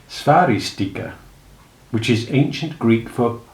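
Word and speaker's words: Sphairistike: Did it rhyme with spike and stari stike, or with piquet? In fact, it rhymed with sticky, but nobody knew that.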